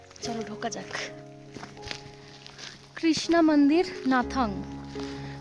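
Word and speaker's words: Gnathang: নাথাং স্পেলিংটা কিন্তু জি দিয়ে স্টার্ট, কিন্তু উচ্চারণে জিটা হয় না।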